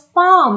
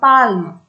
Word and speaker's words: palm: as psychology and this second word here it is pronounced as palm not palm this l is silent here also it is